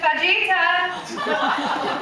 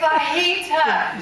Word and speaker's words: fajita: I just went to her and gave a lecture on how J in Spanish is silent. And you say fajita and not fajita.